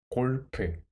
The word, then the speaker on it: 골프: Koreans pronounce golf as 골프.